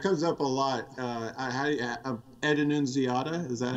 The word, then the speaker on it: Annunziata: Ed Annunziata, is that how you say his name?